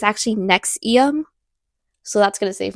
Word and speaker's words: NXIVM: I just realized I've been pronouncing it wrong. It's actually it's actually Nexium.